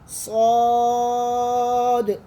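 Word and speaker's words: ص: स्वाद ये कलकल हरूफ है, इसको एंड में थोड़ा सा आपने झटका देना है।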